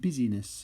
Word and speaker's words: business: So apparently it would have been pronounced busyness of state.